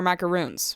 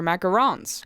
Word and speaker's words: macaron: Also, Rose pronounces macarons wrong. These are macaroons. These are macarons.